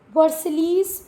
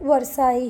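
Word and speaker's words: Versailles: वर्सलीस मत पढ़ना इसको, वर्साई ही है।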